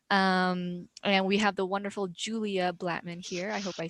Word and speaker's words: Julia Blattman: And we have the wonderful Julia Blattman here.